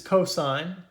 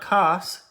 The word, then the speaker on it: cosine: as we're going through these so this is pronounced sine not sin this is cosine not coughs cosine tangent okay and then we have cotangent